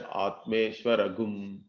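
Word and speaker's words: आत्मेश्वरम्: So Atmeshwaram, Shashwatam means we chant it as Atmeshwaragum. So this Chandra Bindu becomes Gum.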